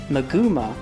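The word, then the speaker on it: マグマ: Its Japanese name is Magukarugo, which is a combination of magma, pronounced as Maguma in Japanese, and escargot, which means snail in French.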